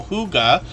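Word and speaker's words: hygge: they let us know Huga which is how we pronounce this h-y-g-g-e here means cozy peaceful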